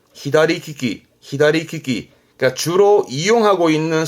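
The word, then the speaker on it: 左利き: 발음은 히다리키키, 히다리키키.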